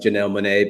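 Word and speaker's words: Janelle Monáe: start here in the us yeah it is pronounced janelle monae because that name actually comes from kansas city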